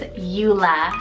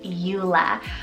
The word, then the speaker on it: Ula: And another cute three-letter U name is Eula, spelled U-L-A, Eula. I love both of these. They could totally work as sibling names, as Eula is Celtic rooted, meaning gem of the sea.